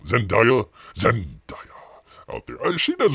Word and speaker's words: Zendaya: the what's her name uh how do you pronounce it is it zendia Zendaya Zendaya out there she does a really good